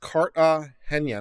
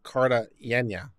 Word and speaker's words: Cartagena: It's pronounced Cartagena, not Cartagena. Wake up.